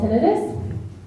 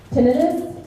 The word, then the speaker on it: tinnitus: This is called tinnitus. So this one actually does have two legit pronunciations. Tinnitus or tinnitus, either or, neither are banned in the military.